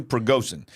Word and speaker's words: Prigozhin: Yeah, Yevgeny Prigozhin.